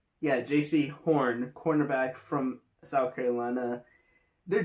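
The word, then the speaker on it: Jaycee Horn: Wait, is that how you pronounce his name? Yeah, J.C. Horn, cornerback from South Carolina.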